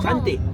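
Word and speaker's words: cantik: Shanti. Shanti. Yes. Shante. What? Shante. C. C A N. C A N T I K O Ah. Shant a silent K.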